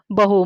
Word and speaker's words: बहू: तो ये बन गया बहु, मतलब वेरी, बहुत ज्यादा, उसको हम बहु भी बोलते हैं, बहु। और इस पर अगर मैंने बड़े ऊ की मात्रा लगाई तो ये बन गया बहू, डॉटर इन लॉ, बहू,